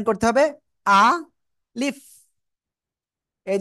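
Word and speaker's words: ألف: জায়গা থেকে উচ্চারণ হবে আ বলতে হবে তারপরে লিফ বলতে হবে আর লিফার সময় নিচের ঠোটের পেট উপরে দুই দাতের আগার সাথে লাগাবো লাগিয়ে বাতাস বের করব ঠিক আছে আলিফ আলিফ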